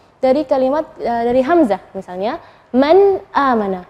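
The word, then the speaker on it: مَنْ آمَنَ: Man amana, nun sukun ketemu dengan hamzah, maka bacanya nunnya yang jelas. Man amana, bukan man amana, bukan. Man amana. Seperti itu cara membacanya. Atau misalnya tanwin, aliman hakima.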